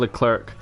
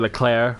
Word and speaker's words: Leclerc: to suggest that Charles Leclerc will be staying, or Charles Leclerc, however you want to pronounce it. It's got a C at the end.